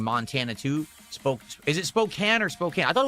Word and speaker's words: Spokane: Spokane. That's weird. They they spell it with a E at the end. because that would make it imply that the A is a full A, but it's not.